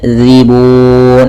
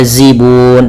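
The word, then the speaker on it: ذِيبٌ: Kemudian zibun. Hati-hati dalam lafal zal, jangan dibaca zibun tapi zibun.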